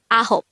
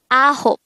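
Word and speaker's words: 아홉: Next, the native Korean translation of 9 is ahop. This is pronounced as a two-syllable word. The first syllable is a, second syllable is hop. Pronounce it with me. Ahop.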